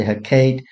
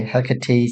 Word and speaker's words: Hecate: Some people say Hecate, some people say Hecate, some people say Hecate. So Hecate is the Greek pronunciation, so I'm going to go with that.